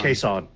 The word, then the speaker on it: Kason: Yeah, Kason. Kason. Yeah, like Jason, but Yeah. only with a K.